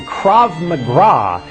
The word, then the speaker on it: Krav Maga: I respond, "Sounds more like you trained in the Special Olympics than the Special Forces because it's spelled Krav Maga. There is no R.